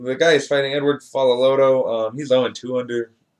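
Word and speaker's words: Faaloloto: fighting he's taking on edward follow lodo that's how you pronounce that yeah follow lodo yeah uh terry adam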